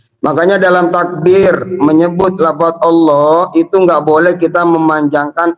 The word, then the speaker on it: Allah: Karena dalam panjangnya a di situ seakan-akan menyimpan a yang lain. Jadi mad farku tuh bertemunya dua hamzah. Yang satu hamzah istifham, satu hamzah wasal dengan alif lam makrifat. Nah, karena bertemu dua hamzah ini akhirnya disatukan. Tandanya apa? A-nya dibaca panjang.